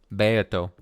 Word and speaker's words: Beato: Pronounced Beato.